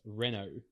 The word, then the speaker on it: Renault: Reno Renault how do you say it it's pronounced Renault right re Renault Renault yeah it's Renault I just didn't an you just don't watch